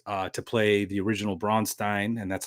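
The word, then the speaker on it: Braunstein: Um, I got uh to play the original Bronstein, and that's how you pronounce it, Bronstein.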